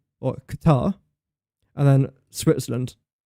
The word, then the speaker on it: Qatar: It's weird how when it came to the World Cup in Qatar, we all just started to pronounce Qatar differently. Qatar. Everyone was saying Qatar just for the World Cup and everyone's gone back to saying Qatar.